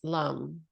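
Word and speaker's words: Lam: add in a sound and the sound is Lum it sounds like Lum but it's spelled l a m so Lum Lum Lum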